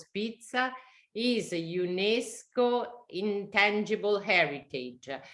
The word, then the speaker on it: pizza: Portanto, aqui a pizza é super conhecida. Atenção que a pronúncia é pizza, como se tivesse um D antes dos Z's.